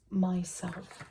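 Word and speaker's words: MYSLF: And he presents Myself, which is spelled myself but without the E.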